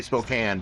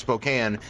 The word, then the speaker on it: Spokane: so hard to say Spokane, but it's Spokane, not Spokane. Spokane? Yeah. Like cocaine. It should be Spokane, but they say Spokane.